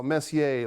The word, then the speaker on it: Messier: a day all right I actually pronounced my name uh Messier like you know French Mike Messier like the hockey player Mark Mark Messier if you don't mind just pronounce my name properly thank you Messier Messier